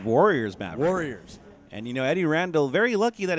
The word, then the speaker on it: Randle: And, Eddie Randle, very lucky that his last name's Randle. It rhymes with handle, so he could have the nickname Too Hot to Handle.